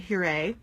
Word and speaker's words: Huret: a little bit about puree dolls so it's pronounced here a and spelled h-u-r-e-t and hurray is best known for being one of the